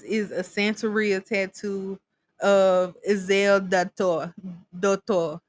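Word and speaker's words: Erzulie Dantor: Okay, so this is a Santeria tattoo of Ezel Dator. That's how they say it.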